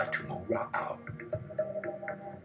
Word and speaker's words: tumura'au: Linguists say that's how the Chumash would have pronounced the Eastern Central Polynesian word for the same boat, one they called a tumura'au. They would have trouble pronouncing that and would come out tomolo'o. That's very normal, regular in Chumash.